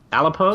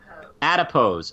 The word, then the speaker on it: Adipose: Alipose? Yeah, I forgot about those. I have no idea. Am I saying it right, Lindsay? No. Of course I'm not saying it right. How do you say it? Adipose.